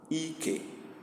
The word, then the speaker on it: ike: Ike. Please pay attention to the sound. If you don't pronounce it this way, it will mean something else.